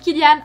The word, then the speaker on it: Cillian: tendance à le prononcer Cillian Murphy, l'acteur le répète à maintes reprises, en irlandais ça se prononce comme un K. Donc Cillian Murphy, qui est touchant de par sa vulnérabilité dans ces quelques scènes d'émotion.